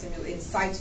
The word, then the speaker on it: in situ: We also do, we talk about in situ simulation or in situ simulation. You will hear it pronounced both ways, which means in its original location.